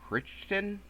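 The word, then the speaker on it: Crichton: off a novel by Michael kiston that's how you say it uh there's actually not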